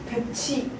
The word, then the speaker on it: 볕이: 볕이. 치로 발음합니다. 왜냐면은 이가 의미가 없는데 이가 만나잖아요. 요 구개음화라고 해서 티읕이 치읓으로 바뀌는 조건이었죠.